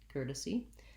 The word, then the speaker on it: courtesy: courtesy curtis and then i would say this vowel here is probably a schwa like an uh c courtesy um or a lax if al cordesi courtesy most important long short short as a courtesy i'll tell you more